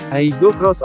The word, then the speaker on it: Aygo X: Diucapkan, Aygo Cross oleh Toyota, nama mobil baru ini dirancang untuk mencerminkan pemikiran ulang yang dramatis pada gaya bodinya.